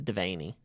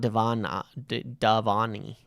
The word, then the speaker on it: Devaney: Someone in the comments said it's Irish and it is Devaney. Not Davani. Devaney.